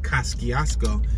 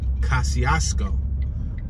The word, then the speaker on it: Kosciusko: So Kosciusko, it's spelled with a ski, like a C, an S-C, but it's not pronounced Kosciusko, it's pronounced Kosciusko.